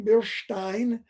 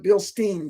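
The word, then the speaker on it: Bilstein: it with bill stein bill stein and by the way it's e.i is perhaps like an eye in german and ie is pronounced like an e i also called it bill steen for many years it's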